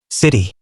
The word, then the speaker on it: city: When t comes between two vowels, Americans pronounce it like a d.